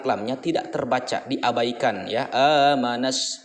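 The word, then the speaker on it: آمن الناس: Amanas. Jadi di sini bunyinya adalah dari nun ke sin. Alif lam di tengahnya itu seolah-olah tidak terbaca, padahal ada.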